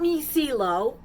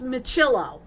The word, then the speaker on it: Miccilo: that according to michello and it's not me celo which I like the sound of that it's michillo I found that out